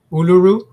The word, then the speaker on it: Uluru: Uluru.